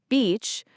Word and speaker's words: beach: And the trick here is the vowel sound. For beach, it's a long E sound, like when you say the letter B, or like a bee flying around. Beach. You really stretch that E sound.